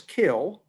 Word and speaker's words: kiln: When it dries, the pots are put in the kiln, which incidentally is pronounced the English way, with a silent n as kiln and then typically wood fired.